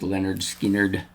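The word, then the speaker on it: Lynyrd Skynyrd: Next up, this is the debut album of Leonard Skinner, pronounced Leonard Skinnard. I haven't listened to Leonard Skinnard since I started this channel.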